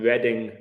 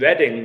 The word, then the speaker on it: Reading: 56 time gematria and reading the football team is called the royals which is interesting so summit with reading that's uh important reading like spelt like reading isn't it but pronounced differently father of mankind is